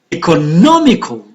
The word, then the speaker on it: economical: Economical, on the third syllable, and economize on the second syllable.